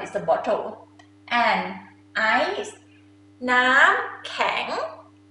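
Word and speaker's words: น้ำแข็ง: Nam kang. Nam kang. Nam is mean water. Kang is mean hard. Water hard. This is I, it makes sense, right? Because it's hard. Nam kang.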